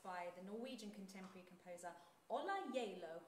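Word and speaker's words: Ola Gjeilo: the Norwegian contemporary composer Ola Jalo, I believe is how you say it. But first, not J-Lo. Not J-Lo.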